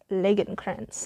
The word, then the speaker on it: Lagercrantz: Alright, number 1 is The Girl Who Takes an Eye for an Eye by David Lagercrantz, I believe is how you pronounce his name.